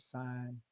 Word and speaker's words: sign: And I always use the word sign si g n. The g is silent and is seen.